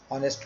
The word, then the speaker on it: honest: But in some examples, as you can see, our, honest man, and ire, in these words the h, the sound of h is, the consonant h is silent, is not pronounced.